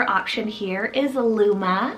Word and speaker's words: Luma: meaning italian another four letter option here is luma spell l-u-m-a luma this one always makes me